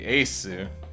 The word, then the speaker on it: Asu: this is in katakana, it'd be Asu, right? Because that's how you like, if you look at my profile card, you spell it A-su. A, long vowel sound, su.